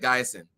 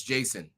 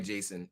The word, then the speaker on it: Jason: Is it Gason or Guyson? Looks like Guyson. Oh, wow. It's Jason. Sorry, Jason. I really messed it up. I really apologize. African ancestry also, okay, his name is pronounced Jason. So African ancestry.